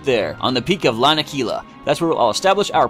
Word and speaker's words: Lanakila: Lanakila? I don't know how to pronounce these things. I say Lanakila.